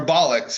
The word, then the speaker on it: bollocks: Bullocks or bollocks, or how do you say it? Bollocks.